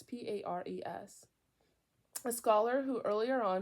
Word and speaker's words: Pares: the later work of Richard Paris. I don't know how to say it. It's Pares.